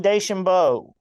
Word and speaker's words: DeChambeau: Yeah, I don't know if you saw this or not, but just about an hour ago, Bryson, I can't pronounce his last name. It's DeChambeau? Bryson DeChambeau.